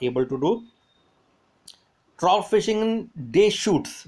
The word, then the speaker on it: Deschutes: देखो इसका pronunciation dash चूटस, ऐसा कुछ मत बोलना उसको. डे day shoots, day shoots, S भी नहीं लगेगा, sorry. Day shoot, day shoot, S is silent. दोनों तरफ जो एस बिगनिंग में आ रहा है और लास्ट में आ रहा है, एस साइलेंट है.